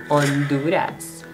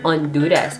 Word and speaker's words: Honduras: next up superal Honduras why do they not pronounce the letter H in Honduras it's huras so huras and happy is happy horror is horror on I mean this